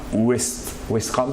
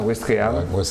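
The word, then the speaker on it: Ouistreham: Certains même, comme tu le disais tout à l'heure, comme Guy Corneli, ont débarqué à Ouestram, ça se prononce comme ça, Ouestréham, le 6 juin 1944.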